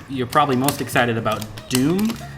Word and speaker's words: Dume: probably most excited about doom doom has been yeah that's been the moment it spelled weird can you spell it real quick it's the ume and it's actually uh